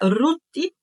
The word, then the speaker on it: Rute: o nome da outra era rut com temudo e nós pronunciamos Rute eles viveram ali durante